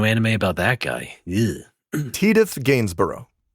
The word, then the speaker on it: Tidus: Do you say Titus or Tidus? Uh Tidus. Correct. There we go. Yes. Well, at least I don't say Tida.